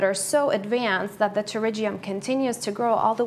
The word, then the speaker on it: pterygium: actual name is pterygium pterygium so many people get stumped by that word because it starts with a P but it's pronounced with a T okay it's a really